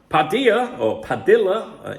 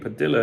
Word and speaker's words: Padilla: Athletic Club, Padilla, in Spain, double L is pronounced Y, but it depends where people are from.